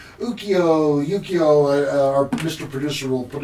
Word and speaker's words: Ukiyo-e: Ukiyo, our Mr. Producer will put it on the... Ukiyo-e.